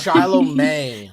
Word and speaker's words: Shiloh May: don't remember you hey I just learned it's Shiloh May no offense I've been saying it wrong every time I'm like every